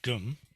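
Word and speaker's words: 금: It means gum, it's pronounced gum, and like, so if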